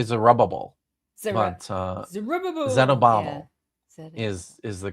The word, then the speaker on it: Zerubbabel: Zerubbabel, Zerubbabel. yeah, that's good. King I like it Zerubbabel. too. Yeah, most people say Zerubbabel, Zeru- but Zerubbabel.